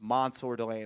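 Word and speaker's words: Mansoor Delane: And it's Mansour Delane. He said pronounce it like there is an O in there. So it's Mansour Delane.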